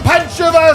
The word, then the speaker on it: Pančevo: Rounding out the show from Pančeva, Serbia, Dobroveče, Miroslav. This is actually the first time in your life you pronounce Pančevo correctly. I always do.